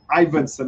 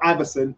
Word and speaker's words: Ivanson: Yeah, Ivanson, not Iverson.